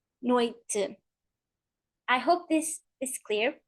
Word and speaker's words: noite: And the last example, noite, noite, noite.